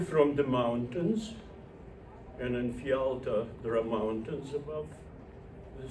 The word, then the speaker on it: Fialta: But the first syllable is different. Fialta, F-I, right? Fialta.